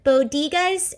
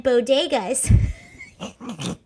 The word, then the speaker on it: bodegas: lady appeared to misspeak pronouncing the word bodigas rather than bodegas the first lady who